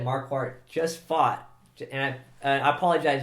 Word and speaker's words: Marquardt: yeah as you said marquart just fought and I apologize if I say his name wrong I actually uh pronounce his name marquat sometimes because of Lord farat from Shrek yes I'm a fan deal